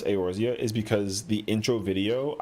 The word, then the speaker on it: Eorzea: It's funny because the only reason why I know how to pronounce Eorzea is because the intro video, I memorized it so often, and I was like, yo, that's just what it is.